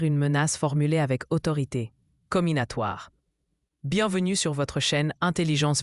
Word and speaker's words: comminatoire: Comminatoire se prononce comminatoire.